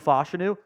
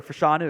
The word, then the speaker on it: Fashanu: chance he goes off the board before Olu fashanu or fashanu excuse me I realized we've been pronouncing his name wrong the whole time when